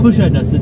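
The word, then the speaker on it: Kuşadası: Kush adas. Kush adas. Kush adas. Kush adas. Adas. Kush adasu.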